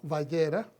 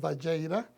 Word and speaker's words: Vayera: Y bueno, nos toca la cuarta porción de este nuevo ciclo anual y se llama Vayera. Algunos pronuncian Valleira y significa y Él apareció.